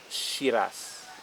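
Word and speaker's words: Syrah: for this one is shiraz all right shiraz the french word they call it shira right so i think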